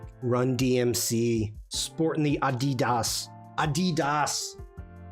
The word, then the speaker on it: Adidas: DMC sporting the Adidas Adidas did you know that's the correct pronunciation Adidas General you